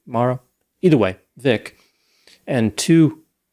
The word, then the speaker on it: Morrow: now some people said the pronunciation is mauro vic morrow i always say vic morell but apparently it was like russian or something vic maro either way vic and